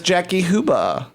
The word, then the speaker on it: Jackie Huba: phone oh my God hello hi is this Jackie huba this is and you pronounce that perfectly hi Jackie this is f